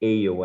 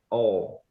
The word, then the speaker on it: awe: Esse ale aí, tá? Ale. Não é ale, é all. Isso, all. Essa é a pronúncia.